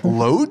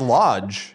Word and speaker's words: loge: excuse me a field level or what loge no that's pronounced oh geez right yeah dan what the really load yeah it's lit load yeah oh it stands correct i thought it was lodge and yeah you tried